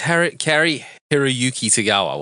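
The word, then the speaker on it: Cary-Hiroyuki Tagawa: It's Kari Hiroyuki Tagawa. That's how you say it.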